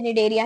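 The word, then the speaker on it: Cnidaria: नाम भी देखो ना, सेम सेम से, निडेरिया, टीनोफोरा, दोनों साथ साथ में स्टार्ट हो रहे हैं। एंड दोनों में सी आ रहा है, बट देखो दोनों में ही साइलेंट है, तो यहाँ पे भी एक कॉमन फीचर हो गया है ना।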